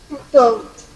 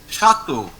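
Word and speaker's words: château: Okay, and the last one, if there is AU or EAU inside a word, we pronounce it simply as O.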